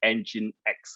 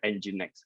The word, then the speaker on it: NGINX: who never heard of this company okay it's pronounced as engine x or ng next right so if you're new first time heard